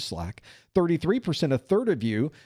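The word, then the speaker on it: SLAAC: SL L AAC. That's how we pronounce SL AAC apparently, which is Slack.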